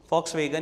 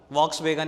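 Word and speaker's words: Volkswagen: क्यों बोल रहा हूं, फॉक्सवैगन ही है उसका नाम, वॉक्सवैगन नहीं होता। लिखते वी हैं, जर्मन कंपनी है, जर्मन कंपनी मतलब वी को वहां पर हम एफ प्रोनाउंस करते हैं। Correct word is फॉक्सवैगन नॉट वॉक्सवैगन।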